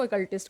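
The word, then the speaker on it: occultist: हैं ना रहस्यवादी उनको अकल्टिस्ट कहा जाता है। ठीक है? इसकी स्पेलिंग जरूर ओ से शुरू होती है। बट इसका जो प्रोनंसिएशन है वो इस तरह से ही है।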